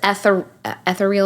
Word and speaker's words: ethereal: And I think it empowers a lot of people because when it's instead of this ethereal, is that the right ethereal. word? Ethereal. The wrong emphasis on the wrong syllable.